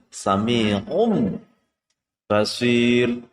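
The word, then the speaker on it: سَمِيعٌ بَصِيرٌ: Contohnya adalah di kalimat tertulis sami'un basirun, sami'un basirun, maka membacanya menjadi sami'um basir, membacanya menjadi sami'um basir.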